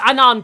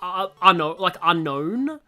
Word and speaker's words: Unown: Unown caught! But yeah, I was saying, like, I didn't like that the third movie pronounced it unknown. Like, just like the English word unknown.